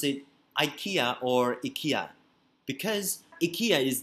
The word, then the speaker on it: IKEA: this way so if i tell you that ikea is the original pronunciation right so if i tell you that